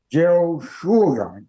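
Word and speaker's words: יהושע: Y entiendo que en hebreo se pronuncia algo así como Yehoshua, de acuerdo con lo que pude entender en la concordancia de Strong.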